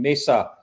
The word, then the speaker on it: Mesa: martin willis and we are on location in mesa that's how you say it right yes you're